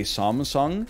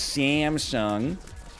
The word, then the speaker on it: Samsung: you're talking to other americans and you say samsung and they go what the hell is samsung it's samsung drives me crazy oh what